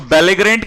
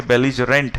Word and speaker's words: belligerent: सो बेलिग्रेंट की स्पेलिंग हो जाती है दैट इज बेलीगरेंट, ठीक है, BELLIGERENT, BELLIGERENT, ठीक है। यहां ग्रेंट कर दिया, बेलिजरेंट है ये, ठीक है।